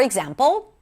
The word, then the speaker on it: example: In this example, the middle syllable, the zam, is the primary stress because it is longer, louder, and higher in pitch.